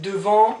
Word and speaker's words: devant: So I repeat once again, devant, you don't pronounce the T here, devant, derrière, sous, sur, dans, contre, entre.